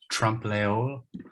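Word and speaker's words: trompe-l'œil: Trompe-l'oeil.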